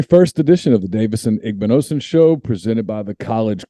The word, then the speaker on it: Igbinosun: into the very first edition of the davidson igbnossen show presented by the college corner first davidson as someone who has his name mispronounced all the time did i do that